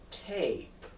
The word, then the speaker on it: tape: makes it go a so tap is now tape because the magic e all right so if